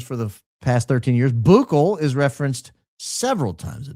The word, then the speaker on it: buccal: Buccal is referenced several times a day. It's pronounced buckle.